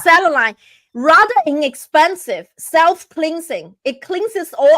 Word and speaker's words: selenite: I hope I pronounce it right. Selenite. Selenite. Yeah, it's selenite.